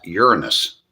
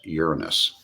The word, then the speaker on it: Uranus: It's pronounced, the planet is pronounced Uranus.